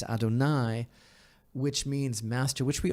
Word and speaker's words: Adonai: hey and hey which is not pronounced the way it is written but rather it is pronounced as Adonai which means Master which